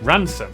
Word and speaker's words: Rampisham: Starting in Biaulio, Beauty, head over to Rampisham, Ransom, then down to Mousehole.